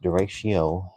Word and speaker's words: derecho: Derecho, pronounced derecho in English, or pronounced phonetically as a derate something, is a widespread, long-lived windstorm.